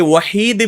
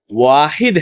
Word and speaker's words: واحد: بعض لوگوں کو آپ پائیں گے وحید بھی اللہ کا نام ذکر کرتے ہیں، حالانکہ یہ نام موجود نہیں ہے. جی واحد ہے، اور دونوں کے تلفظ میں فرق ہے، لکھنے میں بھی فرق ہے یا نہیں؟